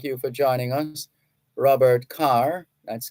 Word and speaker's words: Kerr: for joining us Robert Carr that's k-e-r-r some people pronounce their name Kerr k-e-r-r same spelling but different pronunciation they sometimes choose how